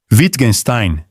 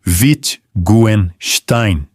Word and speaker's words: Wittgenstein: A primeira é que o W alemão tem valor de V. A segunda é que o S no começo da última sílaba, quando seguido de T, vira Schach. O final não é Stein, é Stein. Algo como Wittgenstein.